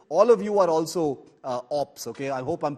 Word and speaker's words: OP: And in my view, all of you are also ops, okay? I hope I'm pronouncing that correctly, but that's OP, thank you guys. OP, not ops.